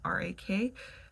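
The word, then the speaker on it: 락: I looked it up the character for rock like pronounced um r a k um so it sounds like Rockstar but means pleasure um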